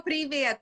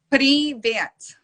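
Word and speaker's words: привет: Privet. Privet. There you go. You have to like roll your R's because us Russians, we use our R's really thick.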